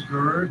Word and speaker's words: Gerd: Hello, my name is Gerd. That's G-E-R-D, rhymes with bird. I always do that because Anglos have trouble with that name.